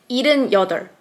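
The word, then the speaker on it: 일흔 여덟: And the real pronounce is ilen yeodeol, just like this.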